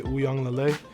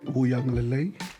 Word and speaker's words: Uiagalelei: My name is DJ Uiagalelei. Uiagalelei. Uianga, yeah, like an N, like Uiagalelei. The Wui is the part that a lot of people, Ui, it's a W kind of, so it's a Wui.